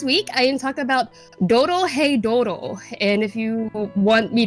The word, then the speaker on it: Dorohedoro: But this week I am talking about Doro Hey Doro, and if you want me to spell that out, just in case I'm mispronouncing it, it's DOROHEDORO. Doro Hey Doro.